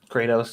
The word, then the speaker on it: Kratos: Does that mean we will get a white Kratos? Is that how you say it? Kratos, yeah.